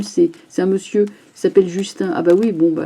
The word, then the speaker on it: Justin: or comme le cher Justin. Et je dis Justin, je sais que ça se prononce Justine, hein, mais enfin bon,